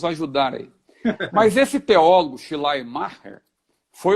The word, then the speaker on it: Schleiermacher: O pessoal fala Schleiermacher, mas minha filha que me ensinou, minha filha está estudando alemão, falou que é Schleiermacher, né?